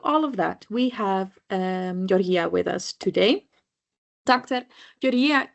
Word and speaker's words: Georgia: So, as Kira already mentioned, and I have to say with the correct pronunciation for Greeks, it's what I usually am called as Georgia.